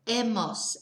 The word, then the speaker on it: hemos: sido hecho X but because we don't pronounce the H we just miss that